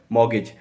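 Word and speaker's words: mortgage: गिरवी को हम इंग्लिश में बोलते हैं मॉर्गेज। इसमें भी हमारा टी साइलेंट होता है।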